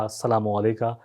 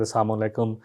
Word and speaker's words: السلام علیکم: صحیح کرنے ہیں، کیونکہ بہت سارے لوگ کہتے ہیں السلام علیکم، السلام جو ہے اس کا مطلب ہے تمہیں موت آئے۔ حضرت عائشہ صدیقہ